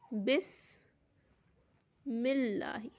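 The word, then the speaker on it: بسم الله: पढ़ाए जैसे अल्लाह था लेकिन इसके पहले बिस्मी आ गया तो मीम जो है यह लाम से मिल गई और यह इसको हमने साइलेंट कर दिया यह हो गया बिस मिल्ला अलिफ लिखा तो हुआ है लेकिन पढ़ नहीं रहे हैं मीम को जो है वो लाम से जोड़ दे रहे हैं बिस्मिल्ला ही हो जा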